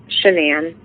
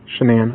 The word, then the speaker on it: Shanann: Shanann. Shanann, okay.